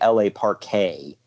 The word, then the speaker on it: La Parka: Park apartment gosh well it was supposed to be la Parque but nobody pronounced it that way so he finally just gave up and started calling himself LA Park and as Santiago says